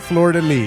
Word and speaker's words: Fleur-de-lis: Is that how you say it? Fleur-de-lis. Yes.